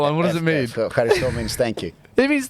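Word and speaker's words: ευχαριστώ: Efcharisto, that's it. Is there a weird roll? Not weird. Is there a roll in there? Efcharisto, yeah.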